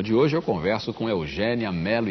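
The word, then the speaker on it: Eugénia: língua nós nossa língua Eugênia Mel Castro você deve ter percebido que eu fiz esforço aqui para dizer Eugênia e não Eugênia né e não Eugênia o seu nome se escreve com acento agudo Agudo todas as pessoas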